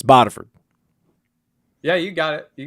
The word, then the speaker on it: Bodiford: It's not Bodiford, it's Bodiford.